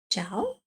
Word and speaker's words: ciao: Ch as in ciao, k as in caffè. Now you'll notice that both of these start with the letter C, but they're pronounced differently, right?